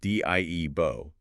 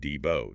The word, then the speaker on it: Dibo: Our sources explicitly state that his name was pronounced D. Ebo, not the more commonly heard Dbo today.